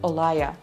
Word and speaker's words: Aurelia: Actually, the name says Aurelia, but fun fact, I used to work with a girl called Aurelia and she always told me, no, that is not how you pronounce it. You pronounce it like Olaya.